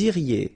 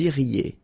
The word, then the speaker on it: iriez: Then vous iriez. So same thing here, make the liaison. Vous iriez. Remember, when you get this EZ at the end, you get the sound E.